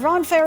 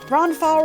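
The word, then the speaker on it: Ronfaure: belongs to Selina but roner is one of my ronow excuse me I keep pronouncing it incorrectly me English it's speaking good ronow is one of my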